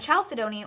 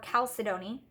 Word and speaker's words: chalcedony: And chalcedony or chalcedony, I've heard it pronounced both ways. I'm not sure if either is more correct or if they're both acceptable to pronounce the CH or not pronounce the H.